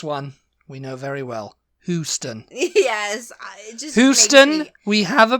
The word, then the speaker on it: Houston: It's Houston. You would need like a Hughston to pronounce Hugh, it like Hugh.